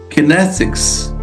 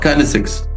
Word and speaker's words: kinesics: Kinesics. Come on. Not kinesics. It's kinesics.